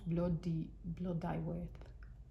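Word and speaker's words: Blodeuwedd: The owl, known as blood, pronounced bloodyweth.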